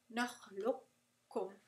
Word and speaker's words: نخلقكم: You're going to drop it and you're going to do إدغام كامل. Just like in متجانسان. So, نخلقكم. نخلقكم. Alright? You're not going to pronounce the qaf at all.